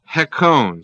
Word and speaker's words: hekon: Greek is hekon, spelled H-E-K long O-N. Hekon.